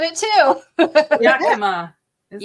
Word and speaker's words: Yakima: Yakima. Is it? Yakima. Yakima. Ah, Oh my okay, God. that's yeah. Okay. Okay. The last one. Yeah. Roll the Oh. R. Yeah. Yakima.